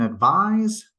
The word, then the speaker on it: advise: one's a verb okay the noun form advice ends in an S sound so it really seems like it should be spelled with an S but it's spelled with a c and the one that's spelled with an S sounds more like a z advise so again words that